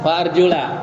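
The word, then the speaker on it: وَأَرْجُلَ: Tapi di situ bacanya apa? Wa arjula apa wa arjuli? Wa arjula.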